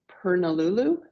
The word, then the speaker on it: Purnululu: We went to, and I know I'm going to pronounce it wrong, but it's Purnululu, I believe, National Park. I think that's about right, actually.